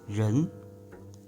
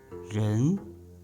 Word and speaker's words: 人: Number 1, with Chinese pronunciation, 人, slowly, 人. Human being, person, people. We also provide a sound connection. French name, Jean, Jean, and 人.